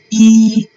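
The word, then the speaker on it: 一: Then one is E. Okay, one is E and E is the first tone just like you see E.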